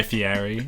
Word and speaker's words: Fieri: It's a Guy Fieri. It's like Italian.